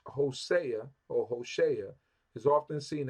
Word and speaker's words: Hosea: is the book of H HOSA HOSA that's how we say it in English HOSA Hosea means salvation